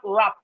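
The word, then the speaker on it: wrap: We have rap, the W is silent.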